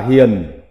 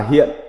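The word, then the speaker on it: 賢: Âm Hán Việt đọc là Hiền, còn có âm đọc khác là Hiện.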